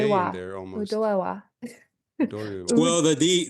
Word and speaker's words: Udoewa: So it's Udo, and Ewa, and you just put them together, Udoewa, Udoewa. When we Udoewa. say it, though, the O and the E become one syllable.